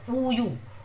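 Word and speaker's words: 우유: So this would be pronounced as uyu. Uyu in Korean means milk. Uyu.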